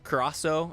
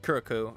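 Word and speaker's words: Curaçao: That's like Curacao or Curacao, I guess is how it's supposed to be pronounced. I've always called it Curacao or something like that.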